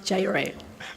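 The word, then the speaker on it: Jireh: So far, and it's pronounced Jire. I know it's so kind of tricky name. Jire.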